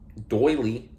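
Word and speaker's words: doyley: Doily, chiefly British variation of doily. And this doily is spelled D-O-Y-L-E-Y. Doily.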